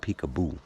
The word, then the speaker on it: Picabo: It's not spelled like that. It's Picabo, peekaboo. Or it should be peekaboo.